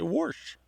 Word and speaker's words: wash: perfect sense that she should say warsh and I bet she spells it w-a-s-h yeah she does that's the other thing they spell it the the regular way but and they may not even realize that they add that R if you ask them